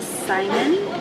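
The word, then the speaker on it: saimin: to think of okay so we ordered the simon just that's how you say it and what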